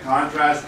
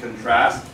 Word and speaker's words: contrast: contrast contrast contrast contrast so there's actually two ways of pronouncing it contrast and contrast one is a noun one is a verb I'm not going to